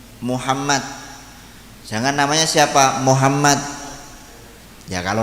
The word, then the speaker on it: Muhammad: Cuman untuk mim itu biasanya kalau dibaca dhammah jangan sampai menjadi o, harus tetap bacanya mu. Muhammad.